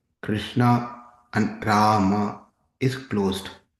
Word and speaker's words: Rama: The short in Hare Krishna and Rama is closed, like in but. The long in Rama is open, like in far.